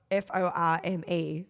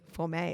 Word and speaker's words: Forme: i don't know well it's spelt f-o-r-m-e for may it sounds fancy there's no little apostrophe above the e so for me go play for me anyway so this yogurt